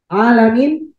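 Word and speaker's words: العالمين: Alamin itu mat apa? Min, min. Mat arif disukun. Mat arif disukun itu punya tiga cara. Yang pertama qasr, dua harakat. Yang kedua tawasud, empat atau lima. Yang ketiga isbah, enam harakat.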